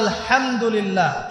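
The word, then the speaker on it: الحمد لله: আল্লাহু আকবার আলহামদুলিল্লাহি রাব্বিল আলামিন এইতো আপনি পড়ছেন আলহামদুলিল্লাহ শব্দটা কি আলহামদুলিল্লাহ এই হা এর মাখরাজ কোথায়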